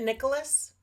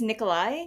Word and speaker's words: Nikolai: how do you pronounce isn't it Nicholas it's Nikolai right Nikolai Nicholas like I